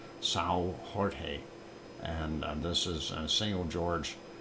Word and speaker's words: São Jorge: If you pronounce it in Portuguese, it's São Jorge.